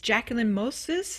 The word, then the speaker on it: Jacquelyn Moses: It's Jacquelyn Moses.